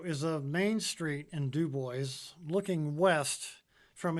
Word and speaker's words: Dubois: The town of Dubois is named after Idaho State Senator Fred Dubois, who rejected the correct French pronunciation of his last name, which would be Dubois.